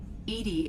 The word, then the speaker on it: EDI: a specific inquiry why are you named Edie Edie is the phonetic pronunciation of e that is an acronym for